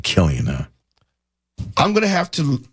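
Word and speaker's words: Cillian: It's it's it's rare that you come across someone's name that starts with a C, but it has a hard K sound.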